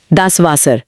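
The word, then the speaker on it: das Wasser: डब्ल्यू वे और शब्द है दासवासर। दासवासर पानी। यहां आता है गोल्डन रूल नंबर चार। जर्मन का डब्ल्यू असल में अंग्रेजी के वी यानी हिंदी के व की ध्वनि देता है।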